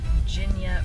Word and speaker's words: JINYA: So we are almost there, and the correct pronunciation of this ramen restaurant is JINYA. JINYA ramen.